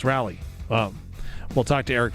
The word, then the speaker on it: Raleigh: Depends how you want to pronounce it, right? There's so many different people that say Raleigh and I'm like, really? Just Raleigh? No, it's Rally.